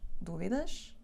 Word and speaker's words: dúvidas: o acento Neste vídeo e o tiramos essas dúvidas E ela como é que se diz dúvidas ou dúvidas e vão aprender agora sejam muito